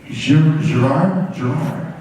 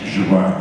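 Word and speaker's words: Gerrard: names that beginning to, like, Gerard? No, it's Gerard. You're pronouncing it incorrectly.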